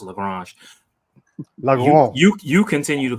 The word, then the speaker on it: Lagrange: Well, the whole point of leaving it there is because when you're in this Lagrange point, I'm sorry, I'm from Louisiana. It's pronounced Lagrange.